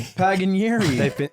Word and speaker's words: Paganieri: Don't say it with a hard P. Paganieri. That's how you say it.